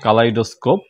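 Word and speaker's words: kaleidoscope: তো এটা হচ্ছে মূলত এটার উচ্চারণ হচ্ছে কালাইডোস্কোপ।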